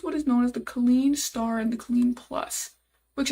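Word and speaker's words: Kleene star: So it says one way to express such a pattern would be to use what is known as the clean star and the clean plus which essentially represents zero or more or one or more.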